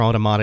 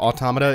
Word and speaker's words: automata: Automata is short for automaton, like a robot. Therefore, automata is probably the correct pronunciation, but that's cumbersome, so I'm gonna be saying it a lot like automata, like automatopoeia, because I'm lazy, and that rolls off the tongue more easily.